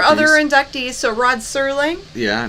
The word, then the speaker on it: Serling: Rod Sterling and Albert Hitchcock. I hear. Oh, like people mispronounce.